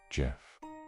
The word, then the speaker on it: Gef: The voice told them its name was Gef, pronounced Gef.